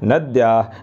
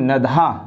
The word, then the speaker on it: नद्या: नदीम, नद्या, नद्य, नद्या, नद्या, नद्याम। इसका उच्चारण भी आप शुद्ध रूप से करेंगे, है ना। यहाँ कुछ लोग इसे पढ़ते हैं नदी, नदीम, नधा। नधा नहीं है, द और या है, नद्या, नद्य, नद्या, नद्या, नद्याम।